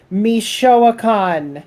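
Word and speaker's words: Michoacán: Mexico so that so the the I right after the m is pronounced as an e long e so you go mishan mishan mishan Mexico Meo yeah yeah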